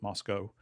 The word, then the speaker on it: Moscow: You are supposed to pronounce it Moscow, just like Costco. They don't like They Russia. don't dig on Moscow, so it has to be Moscow.